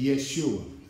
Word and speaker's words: Yeshua: Or some pronounce it Yeshua.